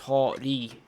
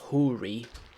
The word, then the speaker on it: Hori: No, it's a Japanese company, so it's pronounced Hori, not Huri. That's not how it's pronounced in Japanese.